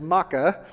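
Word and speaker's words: Maacah: gisher and her act her name is MAA it's spelled the exact same as the maites it's ma a c ah which is really confusing so the the princess of gisher is Maka and David marries her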